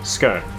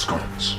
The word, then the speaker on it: sconce: Nice, quick and easy scone. It's pronounced sconce.